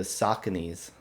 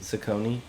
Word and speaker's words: Saucony: this is amazing yeah I was uh into sauconys in high school okay I didn't know how to pronounce it so I never got them Saucony I guess I didn't know it's Saucony Saucony